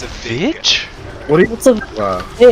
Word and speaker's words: Vig: It's hard G. It's not a Vig. It's a Vig.